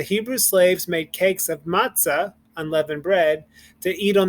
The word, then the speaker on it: matzah: ha we don't we don't breathe in the h at the end it's we really just this kind of it's um it's pretty much it's silence so we don't make the h sound same thing here matzah it's not matzah where we breathe in but the h becomes the hey excuse me becomes silent okay so let's go